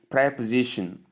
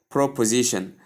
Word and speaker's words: preposition: Regardless of what you've known it to be or what you've often pronounced it as, the right pronunciation is preposition.